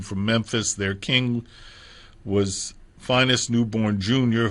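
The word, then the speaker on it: Phineas Newborn: All of the young men from Memphis, their king was Finest Newborn Jr., who more often in his pop years was Phineas. The initial pronunciation was Finest.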